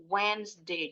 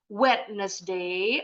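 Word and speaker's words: Wednesday: hem it nah wedesday nama hari hari rabunya gak pernah bunynyi s-nya bunyinya z wedesday wesday jadi gak boleh lagi bacanya wetnday atau wedesday Itu juga salah wesday walaupunnya hilang bacanyaak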